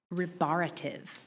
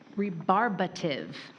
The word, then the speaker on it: rebarbative: Your next word is rearrative. Ribberative. Will you please provide the definition? Am I I'm sorry. I think you're skipping a pronunciation there. Thank you so much. That's not the word. Rebarbative.